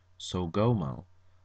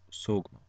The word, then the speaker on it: Sogmo: It is not Sogomo, it is not Sagmo, it is Sogmo. And the reason why I state this is because it is an Abenaki word.